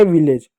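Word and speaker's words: village: जाएगा हो जाएगा विलेज अब ध्यान दीजिए बच्चों ए को यहां पर ए की मात्रा पढ़ेंगे ए कंसोनेंट ए रहा इसलिए ए को ए के मात्र पढ़ हो गया विलेज।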